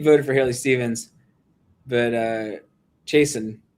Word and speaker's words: Chasten: So they were like, Pete voted for Haley Stevens, but Chasten, right? Is that how it's pronounced? Chasten?